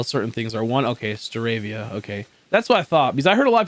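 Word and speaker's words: Staravia: out on how certain things are one okay steravia okay that's what i thought because i heard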